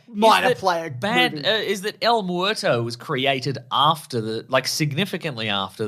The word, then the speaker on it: El Muerto: How does this pronounced? El Muerto.